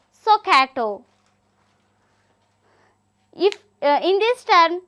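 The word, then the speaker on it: SOHCAHTOA: and T O A it is pronounced as soato if uh in this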